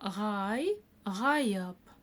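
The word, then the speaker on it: ғайып: Следующее слово гайп. Помните, как в первом слове гажаеб? Удивительный, чудесный, да? Я говорила, буква произносится коротко, но и краткую мы произнести обязаны.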